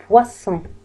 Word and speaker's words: poisson: الإس لماذا نطقت إس؟ لأنه دوبلي، لهذا لم أنطق زاد. poisson.